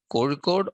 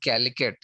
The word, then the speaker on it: Kozhikode: The name, it is called Calicut because when the British came to India, they were unable to pronounce the word Kozhikode. So they slightly modified it into the form of Calicut.